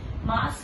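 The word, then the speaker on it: ます: मास हमारा जहां पे मास होता है वो ये हमारे वर्ब होते हैं, और इसमें भी ये यू साइलेंट होता है, तो मास नहीं होता, मास होता है.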